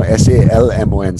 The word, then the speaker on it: salmon: I'm salmon, so S-A-L-M-O-N, salmon, just like that. L is silent, eh?